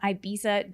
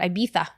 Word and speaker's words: Ibiza: Well, because in Spain, the Z is a TH. So these people are from Ireland, and they all call it Ibiza. Ibiza. That's and I'm how, like, if you're over there, that's how they say it.